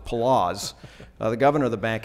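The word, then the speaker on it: Poloz: pronunciation of his name I thought it was polos but it's palazz the governor of the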